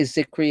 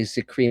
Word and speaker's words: Zicree: I say Zicree. Others in the family say Zicree. My mom said Zicree.